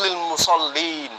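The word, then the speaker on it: لِلْمُصَلِّينَ: Yang bertasdid adalah sok. Padahal kaidah membacanya yang bertasdid itu adalah lam. Fawailul lil musallin.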